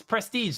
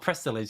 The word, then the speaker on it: Prestige: long and then go oh it's prestige not prestillage because there was like